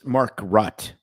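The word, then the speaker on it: Makrut: k u t Market lime and um it's Mark rut lime oh you know what hooked on phonic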